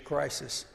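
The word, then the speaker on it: κρίσις: Now judgment, that word judgment, if you look up in the Greek, it sounds like crisis. Crisis. Even the Greek pronunciation is crisis.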